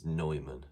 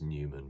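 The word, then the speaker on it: Neumann: also must remember to pronounce it as Nyoman, not as Newman because it's like Manuel Neuer, not Newer.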